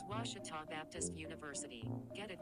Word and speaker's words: Ouachita: at a baptist university back in texas everybody pronounces it wichita but really it's ouachita washington washington how would you pronounce it it's washita baptist university get it